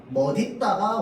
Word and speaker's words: 멋있다: 멋있다도 마찬가지입니다. 멋있다, 멋있다. 원래 원칙은 뭐다? 멋있다가 원칙 발음이야. 근데 멋있다도 허용해 줍니다.